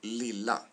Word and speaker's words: lilla: What you see and what you hear is that in the lila, lilla example, there are two L, which makes lilla pronounced the way it's pronounced, with a short vowel.